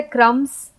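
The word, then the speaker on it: crumbs: फिर B silent है क्रम्स। तो क्रम्स हम लिखते हैं, लेकिन बी को हम उच्चारण में नहीं लेते, हम सिर्फ बोलते हैं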